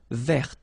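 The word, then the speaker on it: vert: So masculine form you don't pronounce the final t feminine form ver. So listen carefully I don't say t but it's t ver.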